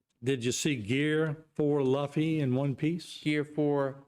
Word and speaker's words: Luffy: And it's called Luffy.